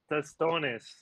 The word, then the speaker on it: tostones: Tostones. Yeah, come on. Tostones. Brian will do the Dominican pronunciation stuff.